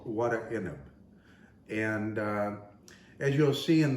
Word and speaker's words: Warek Enib: a lebanese dish called what a ineb and as you'll see in the title of the video it's spelled quite differently than the way we pronounce it it's we pronounce it